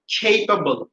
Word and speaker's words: capable: এবং এটার উচ্চারণ হবে capable, capable, capable।